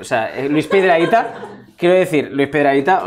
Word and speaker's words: Luis Piedrahita: Luis Piedrahita. ¿Sí? ¿Lo pronuncié bien? Sí. Ok. Luis Piedrahita.